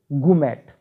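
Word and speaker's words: gourmet: अगला शब्द है, इसमें भी आर साइलेंट बोलेंगे, गुमैट, खाने पीने की वस्तुओं का पारखी।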